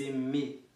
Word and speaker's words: aimez: Depois, vous aimez, saiba que toda vez que você encontrar E, Z em qualquer palavra, a pronúncia vai ser E, como se você lesse um E com acento circunflexo em cima, né?